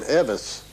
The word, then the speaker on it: Elvis: elvis was born and vernon for some reason always pronounced elvis the name evas and lefty l out